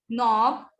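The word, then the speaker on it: knob: K is silent in these words. ठीक है, ये तो हम बहुत कॉमन वर्ड्स हैं जिनमें K साइलेंट होता है. जैसे नी, नॉब, नो, नॉक and knife.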